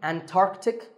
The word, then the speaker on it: Antarctic: Similarly, Antarctic and Antarctica.